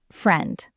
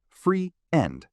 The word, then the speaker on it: friend: The word friend is pronounced as one syllable. Friend, not free end. Just friend.